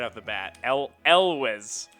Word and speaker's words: Elwes: And every time I'm pretty sure it is it's a vocalized S, not a. So it's Elwes with like a Z sound.